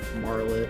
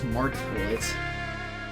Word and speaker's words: Martlet: B up job yeah I also realized I was mispronouncing her name the entire game Marlet no it's martlet there a 88 until